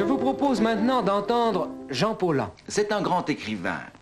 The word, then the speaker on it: Paulhan: Je n'insiste plus du tout maintenant pour qu'on prononce Paulhan, mais c'est évidemment la véritable prononciation.